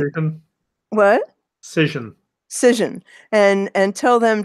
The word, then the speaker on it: Cision: And she said, well, then you need to get in touch with, how do you pronounce it? Sison? And Cision.